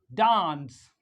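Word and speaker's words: dance: ए एन सी ई डांस डी ए एन सी ई डांस डांस ई is silent ई क्या है silent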